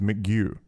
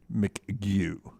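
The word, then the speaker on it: McGough: spells it the same he says he pronounces his mcgew mcgu okay thank you jeff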